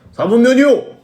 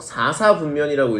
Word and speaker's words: 4사분면: 네 번째가 그냥 4분면이 아니고 4사분면이에요. 우리 친구들이 맨날 저거 읽을 때 4분면이요! 그래요. 4분면이라고 하면 여러분 그냥 4개로 나눠놓은 것 중에 뭔지 안 선택한 거거든요. 꼭 4사분면이라고 읽어주셔야 되겠고요.